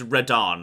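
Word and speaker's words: Radahn: intro sequence it's not a spoiler his name's reddarn um r-a-d-a-h-n no not like the godzilla one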